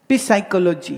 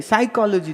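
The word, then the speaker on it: psychology: पी साइकोलॉजी, बोले पी नहीं, बोले पी साइलेंट है। साइकोलॉजी तो फिर पी काहे लिखा है मरदूद?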